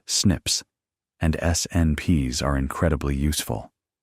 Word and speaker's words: SNPs: These single-letter variations are called single nucleotide polymorphisms or SNPs, pronounced "snips", and SNPs are incredibly useful.